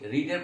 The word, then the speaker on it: read: News paper is নট, মূল verb আছে রেড, রিডের past tense past verb হলে স্পেলিংটা হচ্ছে গিয়ে একই, রিড আর ইএডি, কিন্তু উচ্চারণ হবে রেড।